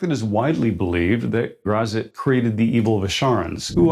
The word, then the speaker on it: Graz'zt: Gary Gyax, the creator of this demon, said in an interview that grazit was the correct pronunciation. But I still mispronounce it as grazit, a habit I formed in the 80s.